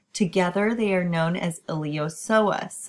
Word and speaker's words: iliopsoas: they are known as iliopsoas again the p is silent and it's going to